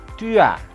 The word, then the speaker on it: tu as: Kamu punya itu adalah tu as. Dibacanya disambung. Jadi jangan tu as tapi tu as. S di ujung tidak dibunyikan.